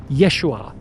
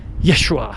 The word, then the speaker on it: Yeshua: His real name was Yeshua Kamashiach. That's how you pronounce it in Aramaic.